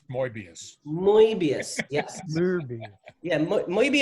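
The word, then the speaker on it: Möbius: an umlaut above the oh nots and it's pronounced morbius Mobius yes yeah look maybe a great guy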